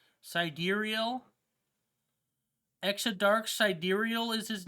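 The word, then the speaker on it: Sideræl: phonetically pronounced as expected crimes clarified that seed rail is pronounced side deer e l sidereal extra dark sidereal is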